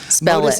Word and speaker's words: Modus: Modus is spelled M-O-D-U-S.